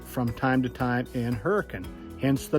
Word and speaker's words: Hurricane: is a reason that hurricane is named hurricane and yes that is how you pronounce it that's the way the locals have said it for years I know it's spelled